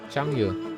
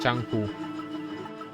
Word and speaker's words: Chang Yu: Chang Yu. Not Chang Hu. Because it's a CN. I am doing it on a CN pronunciation.